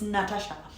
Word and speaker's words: Natasha: It's spelled Natasha the way I kept reading it, but it's Natasha.